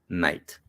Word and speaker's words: knight: So somebody who was riding a horse is definitely a knight, KN, although it's spelled like knight, but actually it's knight.